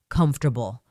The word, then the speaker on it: comfortable: Comfortable. Comfortable. Notice that we don't say every letter uh clearly. It sounds like comfortably.